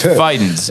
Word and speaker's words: Fidens: Fee? Fee? I was about to spell it, but I also wanted to say it at the same time. So I was going to spell it, but I just said fee. So that doesn't make sense. It's Fidens. Fidens.